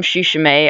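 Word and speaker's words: tsushimae: is actually tetra Miriam shushing a I just learned the T is silent and they are also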